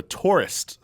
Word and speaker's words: Touryst: The Tourist, spelled with a Y.